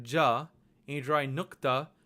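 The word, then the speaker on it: ज़: But this letter is pronounced as ja, ja. This is the same sound that you hear in measure or television, ja.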